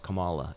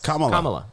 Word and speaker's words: Kamala: And it's Kamala.